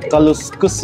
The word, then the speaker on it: kaleskes: na nga natin yan kaleskes o bigkas sila dito parang kaluskus Eh ano kaya daw